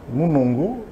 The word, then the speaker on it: Mounongo: Oui, Mounongo avec un N au milieu et Moulongo avec un L au milieu.